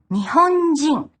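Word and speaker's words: 日本人: This kanji is also used in words like Nihonjin and Amerikajin. Attached directly after a country name, it's pronounced jin. Nihonjin.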